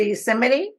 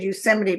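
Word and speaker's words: Yosemite: I did Euseite, but we stayed at the real fancy motel. Yeah. Hotel. I'm not I'm not sure you're pronouncing that right. I think it's yoseite. Oh, is it?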